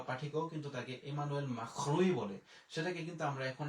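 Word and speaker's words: Macron: যেমন আপনার ইমানুয়েল মাখরুম যদিও আমরা ইংলিশে এটার উচ্চারণ হয় ম্যাক্রন এবং 2016-17 থেকে যারা প্যারিসে বা বাংলাদেশের সংবাদপত্রের বিভিন্ন সাংবাদিক ছিল তারাও কিন্তু লিখত ম্যাক্রন। এখন কিন্তু দীর্ঘ আট নয় বছরে কিন্তু আমরা তাকে ইমানুয়েল মাখরুই বলি।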